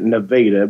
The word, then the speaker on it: Nevada: Chris well actually I was born in they pronounce it Nevada but it's spelled like Nevada Missouri and I